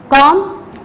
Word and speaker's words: comb: Number 1 is lamb, comb, climb, crumb, thumb. When we say these words, we don't pronounce B because B is a silent word.